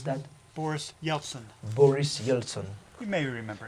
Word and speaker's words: Boris Yeltsin: And he was one time a bodyguard for the Russian president Boris Yeltsin. Et il était autrefois un garde du corps du président russe qu'il a nommé, how do you pronounce that? Boris Yeltsin.